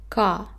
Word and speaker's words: 가: It's ka. And this is how we got the syllable. We added a to the consonant k and we got ka.